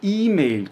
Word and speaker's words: E-Mail: E esse L precisa ser pronunciado de maneira bem explícita. Eu tenho que pôr a pontinha da minha língua ali no céu da boca.